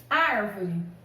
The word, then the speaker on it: árvore: Árvore. Árvore. Antepenúltima sílaba mais forte.